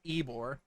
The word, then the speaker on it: Ybor: that the Cuban sandwich sprang forth from Tampa's Ybor City. Yes, that is in fact pronounced Ybor.